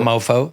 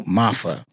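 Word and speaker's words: Maafa: Not Mofo? No, Mafa. It's an African like proverb name.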